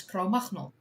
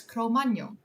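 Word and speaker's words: Cro-Magnon: So that's why in this new video that I premiered earlier today, uh, I pronounced it correctly as Cromano in hopes that people would hate me a little bit less.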